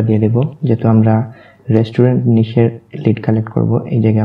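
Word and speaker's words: niche: তো আমরা যে ক্যাটাগরির কাজ করব সেটাকে আমরা নিশ বলে উচ্চারণ করব, কেননা ডিজিটাল মার্কেটিংয়ের ভাষায় বিভিন্ন সাবজেক্ট বা বিভিন্ন বিষয়কে নিশ বোঝায়।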